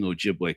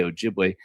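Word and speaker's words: Ojibwe: as an adult man who grew up among Ojiway culture. If you you hear me say Ojiway, Ojiway is the original are the people who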